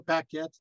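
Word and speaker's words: Pakhet: Dedicated to Paquette. And Hatshepsut, saying this by way, if you're wanting to know spelling, is spelled P-A-K-H-E-T.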